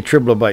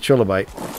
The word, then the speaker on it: trilobite: I used to say triblobite, and people got all mad at me. You're saying it wrong. Oh my gosh, you said it wrong. The world's gonna end. Anyway, it's trilobite.